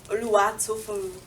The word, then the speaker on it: Tofunmi: So if you want to say my name, you literally have to sing it. So it's Tofunmi.